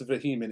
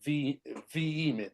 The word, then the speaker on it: vehement: But it's not it's not actually pronounced vehement. It's pronounced v vement. Like the h is silent. So it sounds like two e together.